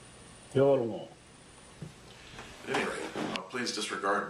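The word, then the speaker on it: Yolŋu: It seems as though I've been mispronouncing the name of this group of people for years and years, and the correct pronunciation is more like yolngu. And listen to the someone say it instead of me, and we'll hear how it sounds. yolngu.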